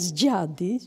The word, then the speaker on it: dziady: Kult zmarłych czyli dziady przez wyraz dziady czyli dni z akcentem na ostatni sylaby sylabie rozumiemy przodków No to